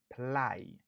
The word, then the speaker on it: apply: Li genyen 2 syllabes. Stress syllable lan li sou deuxième syllabe lan. Apply.